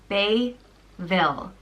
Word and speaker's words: Bébhaill: The next name is Bébhaill, and it means like the wind, and it's pronounced Bébhaill. Bébhaill, and it's got a fada over the E.